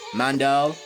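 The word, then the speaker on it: Mandel: Mandal.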